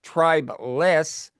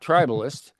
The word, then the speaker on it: tribeless: You have to be careful to pronounce it. It's tribless, not tribalist.